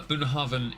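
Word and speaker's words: Bunnahabhain: the point though is it's spelled not how it sounds it's pronounced in garlic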